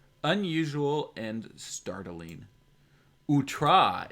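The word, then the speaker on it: outré: what is what is out trey unusual and startling utra is how it's pronounced okay got it now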